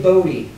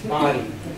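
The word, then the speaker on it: Bodie Island: Some people say Bodie. The locals say it's Body. Body Island.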